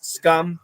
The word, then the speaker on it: scum: and scam huge difference scum is a short you don't stretch it scum and scam is a short a stretch that sound previous from Russia how